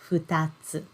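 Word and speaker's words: 二つ: we we learn okay in this word we pronounce this kanji character as futatsu okay so you've already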